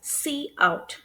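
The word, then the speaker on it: cout: So and also note that this is pronounced as C out whereas this is pronounced as C in.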